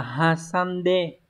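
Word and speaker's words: 挟んで: Câu số 3 đọc là hasande.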